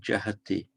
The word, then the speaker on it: jahati: It's actually, it reduplicates the first syllable with a ja. So it's jahati. And the a shortens, by the way.